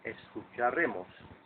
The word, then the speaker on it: escucharemos: We will listen to is a lengthened version of escucharé and becomes escucharemos, which has no accent due to the rules of syllable stress and the consonant which the word ends in.